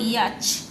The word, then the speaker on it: yacht: তারপরে দিয়েছে 7 a boat with sails and sometimes an engine used for either racing or traveling for pleasure rhymes with caught अब yacht YACHT एटा को सही बॉक्स रे सब एमती फिलअप कर दो हैला।